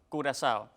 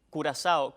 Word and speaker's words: Curazao: se pronuncia en español con Z o con S, en dependencia de la manera en que lo digan.